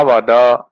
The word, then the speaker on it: वद: आप बोले तम सत्यम वद त्वम सत्यम वद द में अ का उच्चारण हमें करना चाहिए त्वम सत्यम वद त